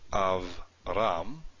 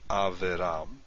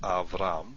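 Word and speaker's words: אַבְרָם: So this is pronounced Avram, not Averam, but Avram.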